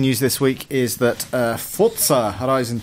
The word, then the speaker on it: Forza: Last piece of news this week is that Forza Horizon 2 was announced by, us. Could you sit further away from your microphone? Yes. Forza Horizon 2 was announced. Alex is in the next room. Forza, well done for saying it right as well.